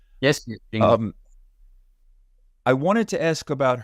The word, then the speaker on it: Jingle: Is that how you pronounce her name? Yes. Jingle.